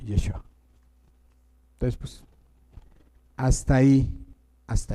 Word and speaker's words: Yeshua: no, él se llamaba Yeshua. Y como los hebreos no tenían vocales, entonces era más difícil tratar de pronunciar ese nombre porque es Y SH UA. Ah, no. Ah, no. Y SH. Yeshua.